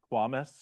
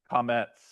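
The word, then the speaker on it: קמץ: Coms? No. Quamis? Nice try. Any other tries? Quamis? Quamis? No, no. Hebrew is not dumb. It would never be that. No. Wait. All right. This is comets.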